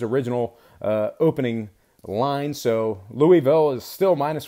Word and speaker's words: Louisville: at Louisville 8 o' tip off uh at Louisville I hate saying it like that I know